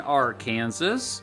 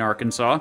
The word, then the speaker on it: Arkansas: In the 1500s, when the French arrived in North America in modern-day Kansas and Arkansas, oops, I mean Arkansas, they encountered two particular American Indian tribes.